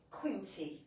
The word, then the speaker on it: Quinty: This is Quinty. That rhymes with some other words that we use now and again. Quinta. Quint. It's not A, it's E. E.